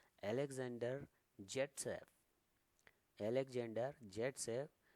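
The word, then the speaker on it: Zaitsev: तो सैडजेफ का नियम है, एक्चुअली सैडजेफ कौन है, ये एक रशियन केमिस्ट हैं जिनका नाम है अलेक्जेंडर जेटसेव। अलेक्जेंडर जेटसेव, जिनका नाम पढ़ा जाता है ऑल्सो प्रोनाउंस्ड, यानी कि इनका नाम सैडजेफ भी पढ़ा जाता है।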